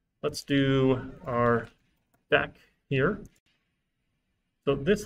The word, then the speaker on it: deque: Let's do our deck here. So this, like, the UE is silent, even the U, even though there's an E here, the Q makes the K sound.